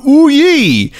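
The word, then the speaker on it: OUYE: the new exciting console called the oui it's spelled o u y e which I'm sure is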